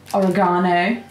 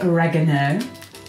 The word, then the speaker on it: oregano: Then we're going to put in some oregano, or as Americans say, oregano.